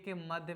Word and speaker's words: calm: जिस प्रकार यम के पहले आने वाला यल जो होता है वो हमेशा क्या होता है, साइलेंट होती है। आप देख रहे हैं ना, इसको क्या पढ़ते हैं आप, सॉरी, CALM, काल में तो पढ़ेंगे नहीं, इसको क्या पढ़ेंगे हम, काम पढ़ेंगे।